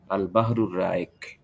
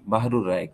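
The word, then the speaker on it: البحر الرائق: অনেক মূল্যবান একটা গ্রন্থ আল বাহরুর রায়েক আমরা অনেক সময় শব্দটাকে বলি বাহরুর রায়েক কিন্তু বাহরুর রায়েক না কিন্তু বলতে হবে আল বাহরুর রায়েক এটা হলো তার বিশুদ্ধ উচ্চারণ এমনিভাবে আল হাসবা ওয়ান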